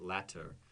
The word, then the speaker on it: latter: D's for La Dera but latter l-a-t-t again we don't pronounce it letter in American English in other dialects yes